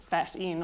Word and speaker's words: Phaeton: my name up there, it's pronounced Phaeton, but it's fat in, obviously.